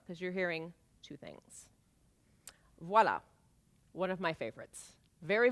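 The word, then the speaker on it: voilà: of the hat and voila here's the thing you have to pronounce the V because the word is not voila it's not a thing while that doesn't mean anything in French my husband doesn't speak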